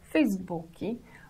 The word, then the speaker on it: Facebook: Whereas in Brazil, where there is no limitation in giving a name to a child, such names as Facebook, pronounced Facebooki or Nokia, are quite common names.